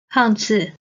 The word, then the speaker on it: 胖子: 爸爸爸爸 Then 胖子 means a proper man or woman. Again, 胖 is the fourth tone. 子 is the neutral tone. 胖子胖子 Alright, now let's practice the pronunciation with different tones mixed.